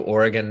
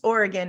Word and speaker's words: Oregon: do you call people from Oregon you two Oregon Knights oregonians oregonians and it's pronounced Oregon not Oregon like people on the East Coast